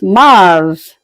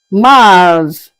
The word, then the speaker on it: mars: March is is pronounced as Mars. Mars.